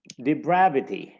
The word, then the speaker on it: depravity: Depravity, again, D is the one syllable, pravity, and bravity. Brav is the syllable that is stressed. We know there is a little superscript or something written above the syllable that shows we should place the stress here.